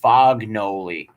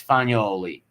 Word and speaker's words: Fagnoli: But people called her Fognoli, but it was Fagnoli.